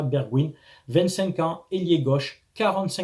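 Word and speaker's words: Bergwijn: en commentaire tout d'abord Steven bergwin ça se prononce comme ça bergwin 25 ans ailier gauche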